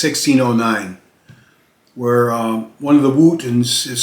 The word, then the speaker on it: Wotton: And they probably pronounced it Wooten, but when people read it, they probably called it Wotton.